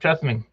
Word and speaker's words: Chesaning: Yep, Chesaning.